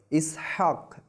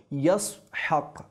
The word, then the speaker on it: ইসহাক: ইসহাক শব্দটির মূল উচ্চারণ হলো ইয়াসহাক। এটি ইব্রানি শব্দ, যার আরবি শব্দের অর্থ হলো সে হাসছে বা সে হাসতেছে।